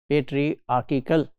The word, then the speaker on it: patriarchal: It's not patriarchal. If it is mispronounced in some module, please note today that its correct pronunciation is patriarchal, not patriarchal, like hierarchical. It is not like that. It is patriarchal.